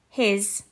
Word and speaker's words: his: a z sound has his the s sound makes a z sound his and her the e